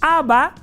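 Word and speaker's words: אב: Y mucha gente cree que es aba, ¿no? Padre en hebreo es ab. La a y la b hasta ahí. A, padre. Pero si tú dices aba, con esta última letra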